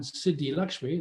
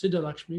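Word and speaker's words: Siddhalakṣmī: who with kubjica and siddhi lakshmi that's how they mispronounce siddha lakshmi she should be sita lakshmi but in captain diwali she's become siddhi lakshmi um so she is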